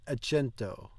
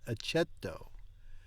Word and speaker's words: accetto: Va bene, accento. There's no N in that. Accetto.